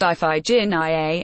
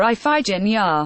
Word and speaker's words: Iphigenia: He sacrifices his daughter, whose name, pronounced Iphigenia, he can't quite spit out, calling her Iphigenia, only 26 minutes into the episode and barely 10 minutes after we've met him.